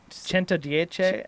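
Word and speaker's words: Centodieci: It was Cento Dieci.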